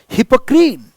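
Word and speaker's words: Hippocrene: हिपोक्रीन हिपोक्रीन it's pronunciation is हिपोक्रीन again a Greek mythological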